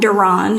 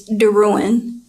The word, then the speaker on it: DeRouen: pronounced my name wrong my last name is not donon it's Darin she spelled it wrong